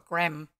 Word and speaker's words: graham: They're a little bit like, from what I understand, a graham cracker or a graham cracker. That's how you say it, the way it's written, not graham.